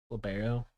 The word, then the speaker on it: libero: Libero.